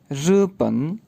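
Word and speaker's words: 日本: जी तो पहला मुल्क है रूपन।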